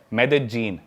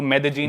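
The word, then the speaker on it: Medellín: उसकी एक सिटी है मेदजीन। स्पेलिंग में उसमें डबल एल आते हैं। मेदलीन होता है। लेकिन कोलंबियन स्पेनिश में ल को ज बोलते हैं। तो मेदजीन वो शायद उसकी मेन सिटी है ना उस कंट्री।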